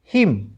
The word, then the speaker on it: hymn: CONDEMN condemn, N silent यहाँ पर भी। ठीक है, HYMN हिम, सीख रहे हो साथ साथ।